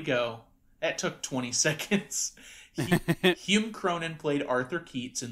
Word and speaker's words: Hume: Hume? Yeah, it's just Hume. Hume? Hume Cronin. Hume Cronin. There we go. That took 20 seconds. Hume Cronin played Arthur Keats in The Postman Always